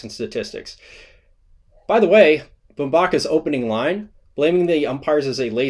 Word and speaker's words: Bumbaca: In an unrelated story, Chris Bumbaca, not Bumbaca, because we're not saying Angel Hernandez, because we actually honor the way that people want their names to be pronounced.